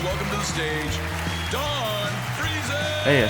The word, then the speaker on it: Friesen: It was either going to go freezing or frozen because the way it's spelled. Uh, but apparently it's freezing.